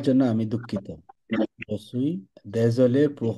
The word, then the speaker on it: désolé: Je suis désolé pour mon retard. এটা দিজলে না, এটা দেজলে। Désolé.